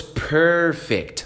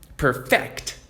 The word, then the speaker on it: perfect: Olha só a ênfase. Perfect. Olha isso. Your score was perfect. Aí sim é perfeito. Sua pontuação foi perfeita porque eu tô dando ênfase no começo. Agora olha como muda tudo. You need to perfect your speech. Perfect. ênfase no final muda para aperfeiçoar.